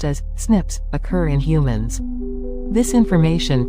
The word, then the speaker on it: SNPs: single based DNA differences snps single nucleotide polymorphism pronounced as Snips occur in humans this information promises to revolutionize